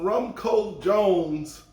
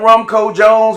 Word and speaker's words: Rumcojones: bottles of this uh i used to say all the time rumco jones but i think you know it's uh like you were telling me it's a wrong component it's all both pronunciations i think uh some people say wrong code jones but i think it's wrong cojonas i like that jones